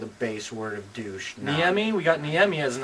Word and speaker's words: Niemi: And in NHL11, they don't know how to pronounce his name. They call him Niemen, and we don't want that mispronunciation on our roster. I clearly lost on the enunciation of Finnish last names.